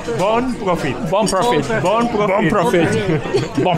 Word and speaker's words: bon profit: And in Barcelona you say bon profit. Bon profit. Bon profit. Bon profit.